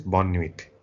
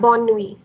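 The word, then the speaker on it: bonne nuit: we and uh goodnight is bonniewick uh yeah bon nui you don't pronounce the t okay sorry bond me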